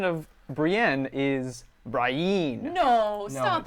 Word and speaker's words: Brienne: The pronunciation of Brienne is Brienne.